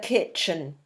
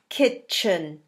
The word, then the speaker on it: kitchen: we find in the kitchen it's a funny word isn't it kitchen but we don't pronounce that t you know that don't